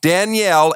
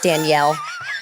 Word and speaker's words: Danielle: I know, I literally pronounce my own name wrong, but it's Danielle. But everyone's like, Danielle? I'm like, that's just... You say it like Danielle. I say it like Danielle. Like French almost.